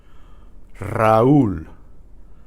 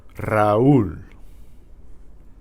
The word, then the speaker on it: Raúl: Okay, the initial R is trilled. Try these syllables. Ri, re, ra, ro. And they have some names here. These are common names in Spanish. Rafael, Rafael. Raúl, Raúl.